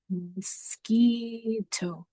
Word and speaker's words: mosquito: word this week is mosquito. The U is silent. mosquito and this does sound like an E. mosquito Last word is tick.